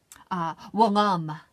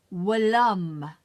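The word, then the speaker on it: whilom: The word is Willum. Willum. W-I-L-L. I mean, W-I, oh, okay, cancel clear that. W-H-I-L-O-M. That's the way you spell it. Willum is the way you pronounce it.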